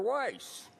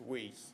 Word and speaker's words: Weiss: Weiss pardon me for mispronouncing your name as weas in the past I'll try and do